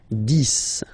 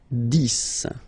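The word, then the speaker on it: dix: 10, okay, so remember, final X here is pronounced like S, 10, 10, okay, then 11, 11,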